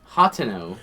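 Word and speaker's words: Hateno: Hoteno. So, it is hot no. It's not It's not hoteno.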